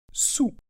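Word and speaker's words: soûl: et bien on est sous voilà donc sa prononciation est vraiment simple d'accord ce qui est troublant en fait c'est l'orthographe d'accord sous euh c'est comme si vous disiez sous la table par exemple d'accord donc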